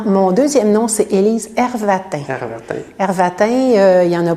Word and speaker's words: Hervatin: Ça se prononce très simplement. Mais ça, il y a moins de Everton que de Qigong.